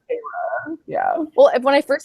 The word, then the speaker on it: Feyre: Pronounced Feyre. Yeah. Well, when I first saw it, I was like fairy, and then I was like, wait a minute.